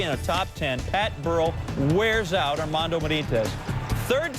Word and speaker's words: Burrell: Burrell rhymes with Pearl, that rhymes with Benitez.